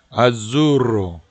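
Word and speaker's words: azzurro: 이걸 꼭 굴려서 리스플렌데 이런 식으로 발음을 해주시면 좋겠고요. 아주로.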